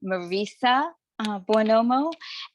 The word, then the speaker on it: Marisa Buonomo: to formally introduce myself my name is pronounced Marissa bomo and I have been a